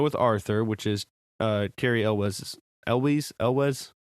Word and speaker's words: Elwes: And so she decides to go with Arthur, which is Cary Elwes.